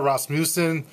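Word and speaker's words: Rasmussen: and then Elizabeth I said her last name wrong it's yes then I got it rossmussen Elizabeth Newson and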